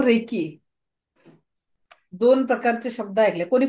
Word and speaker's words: Reiki: सगळं ऑल वेल thank you so definitely thank you so recce दोन प्रकारचे शब्द आहेत कोणी कोणी ऐकलं रेकी